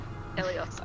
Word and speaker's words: Aiolias: to say your name you don't pronounce the a Elios okay there we go